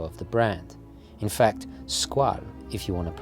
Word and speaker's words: Squale: as the logo of the brand in fact squall if you want to pronounce it correctly means shark in french but